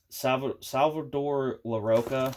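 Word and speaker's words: Salvador Larroca: Salvador LaRocca, I think is how you say his name, is the artist.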